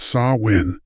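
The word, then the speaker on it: Samhain: This was salmon pronounced saw win, the Celtic hinge between light and dark, harvest and hunger.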